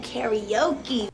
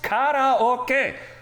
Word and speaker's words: カラオケ: Ooh, karaoke. Karaoke. It is pronounced karaoke. Who was the first asshole who said karaoke, and why the hell have we just all